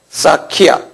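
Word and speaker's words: Sakya: 우리는 석가모니라고 그러는데 제가 영어 스펠링을 드릴게요. S-A-K-Y-A. 사키야. 무니. M-U-N-I. 무니.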